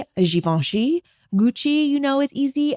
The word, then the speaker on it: Givenchy: The French, I can't even pronounce pronunciation. Anyway, Hermes is the correct way to say that. Givenchy is Givenchy. Givenchy.